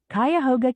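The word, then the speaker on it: Cuyahoga: Kyhoga County.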